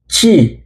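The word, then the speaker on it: ち: টি আই, চি। এটার উচ্চারণ টি হবে না, এটার উচ্চারণ হবে চি।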